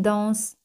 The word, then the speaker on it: dansent: Fijaos aquí, las letras ENT, ENT, no se pronuncian. Elles dansent très bien.